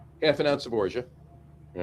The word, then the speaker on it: orgeat: It's orgeat or orgeat. Orgeat. All right. It's funny because they're saying it's orgeat rhymes with garage.